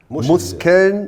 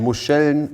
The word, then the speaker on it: Muscheln: Muskeln, no, no no, Muscheln Muskeln is muscles and Muscheln is mussels to eat.